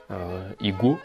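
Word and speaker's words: иго: Hein, un joug en russe c'est ig, igo que ça s'écrit, ça se prononce ig.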